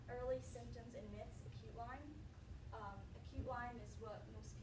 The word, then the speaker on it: Lyme: Some of the myths of Lyme disease is people say Lyme's disease, and that's just not saying it right. It's just Lyme. It's not, doesn't have an S.